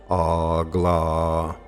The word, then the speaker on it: AGLA: Then you turn 90 degrees to your right so that you're facing north, and you vibrate Agela. Some people pronounce it Agla.